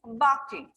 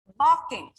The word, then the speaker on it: barking: have the dog is barking second example the dog is barking here dog animal children when we say this this word when we pronounce it's not barking the r is not pronounced here mostly in when we